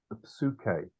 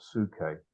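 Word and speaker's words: ψυχή: When you have consonants, even when they go together like that, you still pronounce the two of them together. So it's pneuma, not pneuma, Right. and psuche, not suke, for soul.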